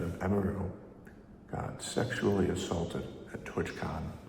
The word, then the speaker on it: Emiru: I pronounced it right then, it was Emiru.